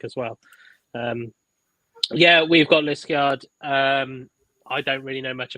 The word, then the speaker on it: Liskeard: I'm going to butcher trying to pronounce this now, aren't I? Liskeard? Yeah, Liskeard, yeah.